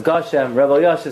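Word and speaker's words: גשם: not send you money you have to pronounce the word correctly you know is it gasham or gasha so Moshe says it's gosham Rebel y'all she said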